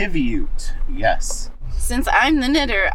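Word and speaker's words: qiviut: And I'm going to mispronounce the name. Kibute. Kivute.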